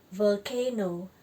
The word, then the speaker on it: volcano: Ini V dibaca tebal ya, bukan val tapi vol, volcano.